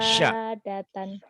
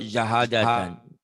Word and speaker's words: syahadatan: Terus Wahudan, Wahudan, Qo'adan, Qa'adan, terus Mubarokan, Mubarakan, Syahadatan, Shin. Kedengarannya bukan sahadatan. Yuk, ulang lagi. Syah, gitu Pak Ustadz. Syah, syah, Syah, syah. Syahadatan, Syukur, saya suka syukur.